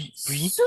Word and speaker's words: sous: B sous l'appuie pu sous la pluie parce qu'on ne prononce pas le S final sous la pluie sous